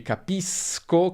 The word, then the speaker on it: capisco: Se abbiamo o, si pronuncerà sk, quindi capisco, capiscono, ma se abbiamo e o i, abbiamo sh, capisci, capisce. E questo segue le normali regole di pronuncia dell'italiano. Finisco come sconto, per esempio, finisci come sci, finisce come pesce.